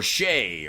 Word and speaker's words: Shai: half first quarter assists I know it's Shay but I don't know it's spelled Shai anyhow let's go over